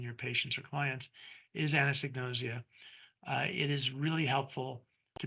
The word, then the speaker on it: anosognosia: patients or clients is anosognosia, it is really helpful to be able to pronounce it. So this is a trick that I use. A woman named Anne knows egg, and she's nosy, nausea, anosognosia.